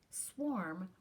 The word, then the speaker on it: swarm: is called a swarm swarm rhymes with warm sometimes there are so